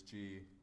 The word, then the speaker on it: gi: No, I literally saw a guy in his G. Oh. Or Gi, Gi? however you pronounce it. Walking No. Come on, it's G. That sounds like G.